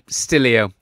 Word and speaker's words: Stillio: because I'm just thinking I've been pronouncing steliostelio and looking at the spelling of it it's quite possibly stillio isn't it and that makes sense because it captures still images from time I'm not redoing the